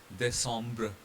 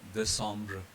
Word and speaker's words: décembre: soft S sound, and will speak CE and CI as S sound. For example, in these two spellings, a C followed by E, again a C followed by E. So they both are pronounced as sir. And like recevoir and décembre. Recevoir and décembre.